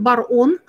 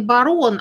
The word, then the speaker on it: Бар-Он: и его звали Руван Бар-Он. Бар-Он – это пишется через тире, не Барон, а Бар-Он.